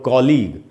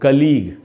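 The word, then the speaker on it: colleague: इसको अक्सर हम लोग कलीग या कुलीग ऐसे करके बोल लेते हैं, ऐसे नहीं बोलना है दोस्तों। इसका करेक्ट प्रोनाउंसिएशन है कॉलीग।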